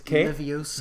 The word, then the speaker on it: Leviosa: But it's Leviosa.